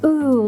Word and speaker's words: Ooooh: date the beta calco ooh family that's pronounced ooh like ooh is that a champagne